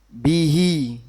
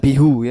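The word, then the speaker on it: بِهِ: Kalau diberi harakat kasrah contohnya bihi, bukan bihu ya. Bacanya apa? Bihi.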